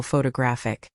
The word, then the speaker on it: photographic: And photographic is stressed on the third syllable, photographic.